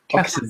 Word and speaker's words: Casson: Casson, yeah. Not Casson. No, I'm not on. Just Casson. The emphasis on the Cass.